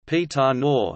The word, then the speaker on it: Pantanal: The Pantanal, Portuguese pronunciation, Pantanal, is a natural region encompassing the world's largest tropical wetland area.